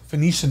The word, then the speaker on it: Phoenician: It's like Phoenician. Look it up. You'll see. It's a hard pronounce. Phoenician? Phoenician.